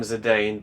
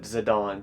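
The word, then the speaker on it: Zidane: I wish it was pronounced Zane. I think most people always called him Zedane, but the city pronounces it Zadon. So I I guess it's Zidon.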